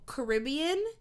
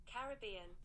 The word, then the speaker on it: Caribbean: google thing so the there's an american pronunciation and there is a british pronunciation so caribbean is the american pronunciation i'll i'll play it caribbean right caribbean the british caribbean that's the american pronunciation and the british pronunciation is this caribbean caribbean oh boy yeah so